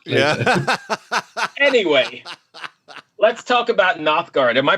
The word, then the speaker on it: Nothgard: check it out yeah anyway let's talk about nothguard am i pronouncing that correctly by the way yeah absolutely